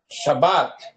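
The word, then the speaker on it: שבת: chá shabbat shabbat Morel devo pronunciar a a letra Bet duas vezes não você vai pronunciar uma vez só Shabat Shabat tá isso aqui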